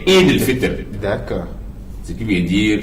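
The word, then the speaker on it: عيد الفطر: Mais souvent, on a l'habitude d'écouter les journalistes, les gens disent c'est mal prononcé. Oui. c'est Eid al-Fitr.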